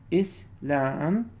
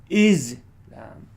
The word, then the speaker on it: Islam: So there are two ways to pronounce this, okay? Islam, okay? Islam, so Islam, okay? Or you can go Islam, okay? Okay, Islam or Islam.